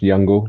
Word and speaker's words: Jungle: It's pronounced Youngle. Young, it's Swedish.